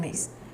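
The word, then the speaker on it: Myss: I think that's how we pronounce her name. Mice. Mace. Caroline Mace.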